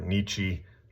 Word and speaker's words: Nietzsche: As I understand it, it's Nietzsche, not Nietzsche. Well, that sounds kind of fun. Or Nietzsche. It's Nietzsche. So take my word on that one.